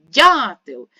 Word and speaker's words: дятел: голосний л приголосний твердий промовляємо слово дятил ще раз дятил і ставимо наголос на перший склад зелену сукню маю ніколи